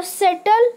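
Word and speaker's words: subtle: और सेटल मतलब सूक्ष्म।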